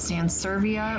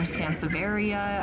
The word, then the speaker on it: Sansevieria: you guys pronounce it is it sans serbia or sansevieria i've heard it both ways i think it's kind of like one of those tomato tomato type things and then of